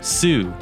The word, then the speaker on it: Sault: name su comes from spelled like a fancy way of saying salt but pronounced as sue it's believed that the